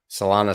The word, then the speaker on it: Solana: now salona summer guys solana summer rhymes with donna summer kinda ton of summer